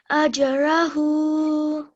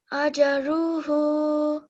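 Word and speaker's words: أجره: Ajrahu. Ajruhu. Ajruhu. Well done. Be careful not to make this jim sound as if it's got a fatha, okay? It mustn't sound like ajja, okay?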